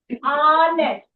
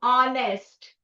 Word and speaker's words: honest: Because H is silent. Okay. So the The sound starts from here. Honest. A. A. Okay. It starts starts with a vowel sound. Honest.